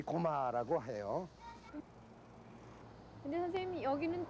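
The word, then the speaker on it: 高麗: 정착했으니까 지금도 이 고마라고 해요.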